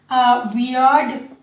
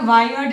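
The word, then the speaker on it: weird: वियर्ड, pronunciation का ध्यान दीजिएगा, वायर्ड नहीं होगा, वियर्ड।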